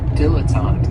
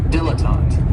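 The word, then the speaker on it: dilettante: my favorites is a diletant and this word has three syllables and there's kind of like a a stress on that first and last syllable diletant the the reason I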